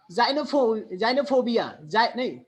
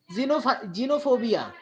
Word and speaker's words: xenophobia: a vowel after X, if there is a vowel letter after the X, then you have to pronounce as za. Just like xenophobia, xenophobia, xylophone.